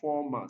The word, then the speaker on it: format: format this is a this is a noun and it's stressed on the first syllable when it now has